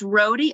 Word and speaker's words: Rhody: i saying it right it's rhody rodi like it rhymes with jody rody am i saying